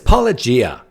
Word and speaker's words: Paulogia: I always pronounce it wrong. It's Paulogia.